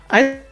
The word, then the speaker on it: HODL: You pronounce it HODL I'm in or Canada, West Coast. HODL.